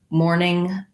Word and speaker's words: mourning: simple explanation is that the uh morning uh that we do in grief as well as morning the time of the day have the same pronunciation so when we break